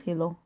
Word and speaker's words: helot: I have a feeling that's not how you pronounce it. I don't care. Helot? Helot? Hilo. It's Hilo. What happened to the T? There's a bunch of T's that are invisible, okay?